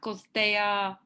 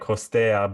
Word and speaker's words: Costea: which are boosting kostea uh fame it's funny that you you pronounce my name like costaya because my grand grand grandfather was bulgarian and his name was costa but with a k yeah we have lots